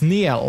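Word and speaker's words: Niall: oh yeah neil horn oh yeah it's not niles neil there we go liam payne and lewis thomason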